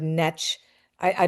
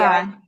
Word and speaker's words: Necciai: And then I heard Netch. I don't know what Netch. How do you say your last name? Is it Netchi? Netchai.